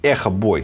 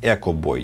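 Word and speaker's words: EchoBoy: Теперь поставим наверное бой А я знаю что правильно произносить Эхо бой Ну типа на английский манер можно произносить Эко бой типа там Эхо произносится как Эхо он не экологичный парень Он типа Эхо парень вот тем временем пинг-понг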